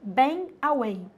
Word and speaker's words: bang away: Mas então, olha esse aqui que já apareceu em vestibular, bang away. Você não fala bang, viu? Não fico falando pronúncia, mas não fala bang, bang away, quase não sai o G, bang away.